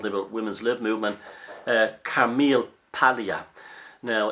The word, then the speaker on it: Paglia: women's lib movement Camille Paglia now it's actually pronounced palea because it's a silent G in that in Italian when it's like that but it's Camille palea and she's obviously an